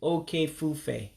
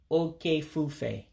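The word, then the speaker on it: oke ifufe: And you would pronounce it oke-ifufe, oke-ifufe for hurricane.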